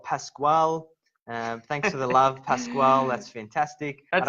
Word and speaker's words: Pasquale: Thanks for the love, Pasquale. That's fantastic. That's not how you say it. Pasquale.